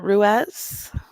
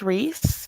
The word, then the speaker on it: Ruiz: Um, wow, Alicia Leishla, it looks like Rodriguez, Shannon Ruiz. Actually, it might be pronounced Reese because I had a friend with that last name and they pronounced it Reese.